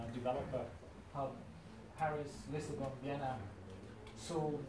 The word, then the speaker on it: Seoul: hub, Paris, Lisbon, Vienna, Seoul is quite recently, it's actually pronounced Seoul, and London.